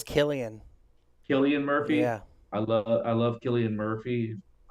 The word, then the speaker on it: Cillian: Is it Cillian Murphy? How do you pronounce it? I think it's Killian.